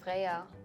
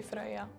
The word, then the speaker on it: Freya: So, basically, it's just a difference of how you pronounce the R.